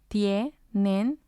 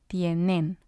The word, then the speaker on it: tienen: Going back to our rule, words that end in N, S, or a vowel will have the stress of the voice on the second to last syllable. So we say hola instead of hola. We say meses instead of meses. And we say tienen instead of tienen.